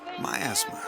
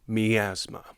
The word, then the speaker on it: miasma: He calls it My Asthma, My Asthma, My Asthma. Miasma. That's technically the wrong pronunciation, but I want to differentiate Cohen's intent from the piece that I first experienced.